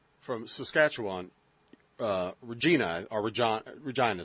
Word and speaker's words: Regina: Saskatchewan Regina Arbor John Regina is how you pronounce it right yeah Regina is that we pronounce Barbra Jean is just